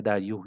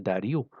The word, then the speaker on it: Dario: Então, um nobre chamado Dario, se eu não me engano a pronúncia é Dario e não Dário, mas eu não sou muito bom das pronúncias, né?